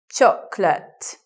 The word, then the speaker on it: chocolate: sounds in the word so you may anticipate chocolate but we don't say and I won't just sit with two syllables chocolate like that with the stress at the beginning looking now at this